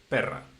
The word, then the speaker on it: perra: Because uh, there are, for example, there is the word pera and also the word perra.